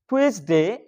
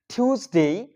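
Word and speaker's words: Tuesday: উচ্চারণ হচ্ছে Monday Monday learner এরপর আমরা বলতাম টুয়েসডে টুয়েসডে আসলে এটার সঠিক উচ্চারণ কিন্তু টিউসডে টিউসডে টিউসডে পরেরটা ছিল আমরা অনেকেই উচ্চারণ করতাম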